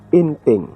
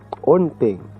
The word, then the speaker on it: Onting: Kay uhaga ni ang pag-pronounce ang ngalan ni Onting, hindi ya kay Inting. Onting.